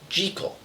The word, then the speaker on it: Jekyll: Jackal and Mr Hyde was the only movie to correctly pronounce jackal's name as jel this pronunciation was also used in the Steven mofat TV series in some scenes as Robert Lewis Stevenson was Scottish and it's the Scottish pronunciation what's your favorite use